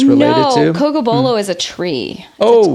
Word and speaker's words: Cocobolo: Cocobolo, yeah. It's taken me like years to say it right. Cause I'm like hard. Coco Lobo, like it just and always also the blends together.